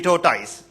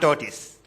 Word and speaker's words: tortoise: It should be tortoise, not tortoise."